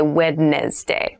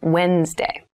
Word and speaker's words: Wednesday: the week but keep in mind this is pronounced wednesday there's a d there but we don't say wednesday we say wednesday wednesday the 18th wednesday the 18th wednesday the